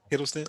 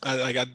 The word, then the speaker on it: Hiddleston: like Tom is Hiddleston. Is that how you say it? Huddleston. Yeah. Hiddleston. Hiddleston.